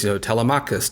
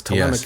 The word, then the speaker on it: Telemachus: And this is compounded by the fact that even amongst people in the field, you'll find different pronunciations of Greek names. Telemachus, Telemachus.